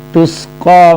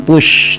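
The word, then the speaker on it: تسقى: Tusqa min ainin aniyah, tusqa min ainin aniyah. Tusqa sin ya, bukannya shad, tus, bukan tush tapi tus.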